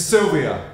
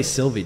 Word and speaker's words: Sylvia: It's Sylvia. I don't say Sylvie, do I? Like the Sylvia, leaf Sylvia. in the forest.